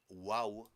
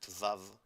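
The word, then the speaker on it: וָו: Wo like the letter wow is written in ancient Hebrew. In modern Hebrew we pronounce it vav but in ancient it was wow but also in ancient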